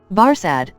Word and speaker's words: Barsad: so much the better his name varsad said defarge making it French by pronunciation but he had been so careful to get it accurately that he then spelled it with perfect correctness VAR said repeated Madam